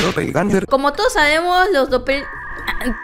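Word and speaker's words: Doppelgänger: es un dopel ganger se pronuncia dopel ganger como todos sabemos los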